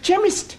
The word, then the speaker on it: chemist: But that is making it chemist. No, the C-H is pronounced K.